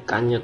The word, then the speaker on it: cagnotte: Cagnotte, kayaknya bacanya kanyot deh, ini hurufnya nggak dibunyikan.